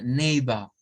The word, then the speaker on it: neighbor: Entonces, vemos acá que esa es la pronunciación. Vea, neighbor, neighbor, neighbor, neighbor.